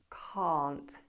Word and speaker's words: can't: i can't i can't bear in mind that difference in pronunciation can can't can can't completely different vowel sounds now shorter answers are